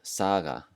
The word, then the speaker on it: saga: the end of words, it has a new sound, which we're going to call the soft G.